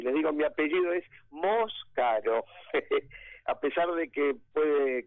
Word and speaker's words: Moscaro: Bueno, y les digo, mi apellido es Moscaro, a pesar de que puede confundirse con otro similar por el tipo, por cómo está escrito, digamos.